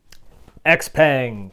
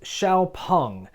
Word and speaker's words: XPeng: x-pang actually it's pronounced xiaopung in this video I'll probably call them x-pung kind of a hybrid of the two because I butcher languages including the English language they're the next EV